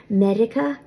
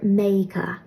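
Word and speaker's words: Meiriceá: In Ulster, the word for America will be Medica or Meica. In parts of Gweedore, R that has an I before it will often be pronounced like a Y. And I'm trying to incorporate that in my own speech more and more. So that's why I say Meica. In Connacht and Munster, America will be pronounced more like Medica.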